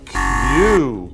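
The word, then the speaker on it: queue: This 5-letter word is the only 1-syllable word in English with 4 vowels in a row. It's also the only word that is pronounced the same when the last 4 letters are removed.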